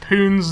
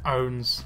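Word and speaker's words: pwns: snake oid loves internet poon's noobs or owns noobs even don't pronounce the p pronounce it owns even with a p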